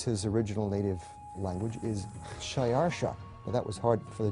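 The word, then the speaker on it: Xšayāršā: persian which is his original native language is shayarsha that was hard for the jews to pronounce so they said ahashverosh we know him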